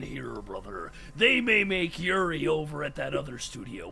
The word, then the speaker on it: Yuri: Yeah, Yuri. I have the the Spanish Y sound, so even saying Yuri for me is like super hard.